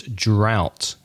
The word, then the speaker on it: drought: And if there's a heat wave, sometimes there's una falta, lack of water, which is drought in English. Ooh, we could put that in our commonly mispronounced word sections, couldn't we?